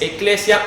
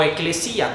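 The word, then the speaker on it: ἐκκλησία: La palabra iglesia en nuestro español así se dice, pero en el griego original es eclesia o eclesía, como le quieran decir.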